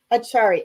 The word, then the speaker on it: acharya: yoga but it's awesome how do you pronounce that acharya acharya yes that means teacher yeah oh it is okay